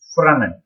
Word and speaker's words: Fresnel: It is written as Fresnel, but pronounced as Fresnel.